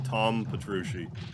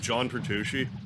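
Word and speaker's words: Petrucci: name wrong John P I always want to call him Tom pushi but John pushi he's a Maniac those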